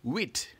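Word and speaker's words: dix-huit: in French it's simple it is this wit like we said earlier on and how do you spell this with simple it's just this and wi that's 10 and eight so let's spell it together d i x hyen h u i T this with brilliant and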